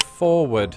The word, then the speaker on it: forward: Take, for example, the word forward. While most Americans pronounce pronounce it? Forward. A phenomenon has emerged in recent decades in which some Americans drop the first R.